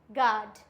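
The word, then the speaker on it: guard: For example गाइल, गाइल्ड, guilt, गिटार, गार्ड, biscuit. इसमें क्या है? आई है तो साइलेंट हो गया, ए है तो भी साइलेंट हो गया, आई है तो भी साइलेंट हो गया, क्योंकि ये सारे वॉयल्स हैं।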